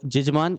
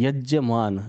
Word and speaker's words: यजमान: जजमान, अगर दिख रहा होगा जजमान, तो ये यजमान होता है। मैं ऊपर करके दिखा देता हूँ। जी। तो जजमान या जजमान जब बोलते हैं पंडित जी, जजमान ये करो, वो करो, तो ये होता है यजमान, जो यज्ञ करवाने वाला है, यज्ञ।